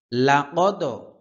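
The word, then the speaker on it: لقد: গাফিলুন সাত নম্বর আয়াত লাকদ এখানে কফ দাল জবর কদ এখানে ওয়াকফ হবে ওয়াকফ হবে কদ লাকদ লাদ কদ মানে দালটা দুইবার উচ্চারণ হবে হ্যাঁ মানে দুইবার বলতে আবার মানে দুইবার একদম সম্পূর্ণ দুইবার হবে তাও না আমাকে একটু ভালো করে শুনুন তাহলে বুঝতে পারবেন কলকলার বিষয়টা হচ্ছে কম্পন সৃষ্টি হয় আর কি প্রতিধ্বনি হয় লাকদ হাক্কল হা কণ্ঠনালীর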